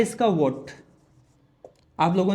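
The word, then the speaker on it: watt: Unit होता है इसका वॉट। आप लोगों ने सुना होगा इसकी वाट लगा दी, तो यहां पर वाट नहीं होगा बेटा, यहां पर वॉट होगा।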